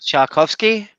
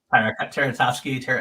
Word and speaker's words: Tartakovsky: You don't talk about Tchaikovsky? Tartakovsky.